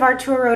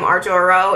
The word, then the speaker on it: Arturo: Tanya says, oh, that was sweet of Arturo to buy Abby a gift.